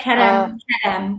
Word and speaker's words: Kedem: So it isn't just, you carry brands like Kedem. Is it Kedem? Am I pronouncing it right? Yeah, Kedem, grape juice.